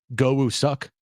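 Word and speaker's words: Go Woo-suk: last name i i in Korea I think it's pronounced goou suck but well I wonder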